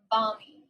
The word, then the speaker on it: balmy: to the word bunny balmy so we don't really pronounce the l too much bobby so let's listen